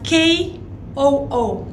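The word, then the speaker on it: koo: So, the ko, we spell it as K-O-O, ko, Amiroko.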